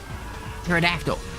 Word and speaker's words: pterodactyl: Uh the P is silent. I don't know why I can't think of it right now. Um I can't think of it. Pterodactyl.